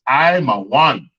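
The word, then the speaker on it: עמון: What nation of people that we say in English that is called Ammon according to the Lord? And in the English Hebrew, it's I'm a one.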